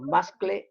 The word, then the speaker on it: muscle: You say muscle, no muscle or muscle. You say muscle. The same as castle. The same pronunciation.